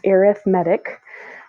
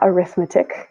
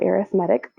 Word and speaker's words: arithmetic: and yes it's pronounced arithmetic not arithmetic because it's an adjective and not a noun so arithmetic this is a sequence